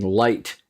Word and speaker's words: light: I should be typing light Li I ght the GH is silent it's pointless it doesn't need to be there uh the I isn't